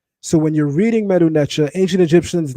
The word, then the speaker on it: Medu: A person may ask well if the stick is already equivalent to md why would the hand be there which is a d as well? That's because of what's called a phonetic complement.